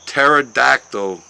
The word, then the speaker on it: pterodactyl: can't you hear uh pterodactyl go to why can't you hear a pterodactyl go to the bathroom because the p is silent yeah I can't I